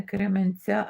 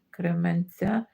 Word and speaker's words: Кременця: ця а не Кременця а Кременця наголос на перший склад Кременця зрозуміло Таня Лариса